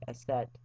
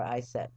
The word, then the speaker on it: Isis: The original Egyptian pronunciation is more like Aset or Iset.